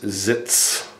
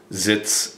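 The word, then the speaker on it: Sitz: be probably uh sit which is zits in German. That's how we say it. Zitz is sit. I say it again. zits. And when we train, I want to make a difference between zits and plots. So I emphasize the s a little bit. I would say zits.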